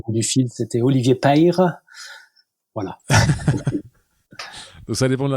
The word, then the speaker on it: Peyre: Je prononce bien, on dit Père, c'est ça? On dit Père, ouais, c'est ça. On dit Père, parfait. Ouais. Dans le sud-ouest, il dit Père.